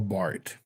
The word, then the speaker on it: Barth: You</b> <b>really need to read Karl Barth,</b> <b>who was one of the top three Protestant</b> <b>theologians from the</b> <b>20th century, alongside</b> <b>Paulist Tillich and Rudolf Waldmann.